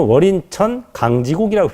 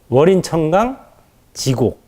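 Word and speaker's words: 월인천강지곡: 그때는 월인천 강지곡이라고 읽었어요. 세 글자씩 끊어서. 근데 이건 잘못 읽는 겁니다. 월인천강 지곡 이렇게 읽어야 돼요. 월인천강이라는 게 뭐냐?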